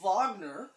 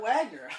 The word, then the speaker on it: Wagner: that is so cool I didn't know you pronounced Wagner as vogner oh we said Kurt Wagner yeah but now I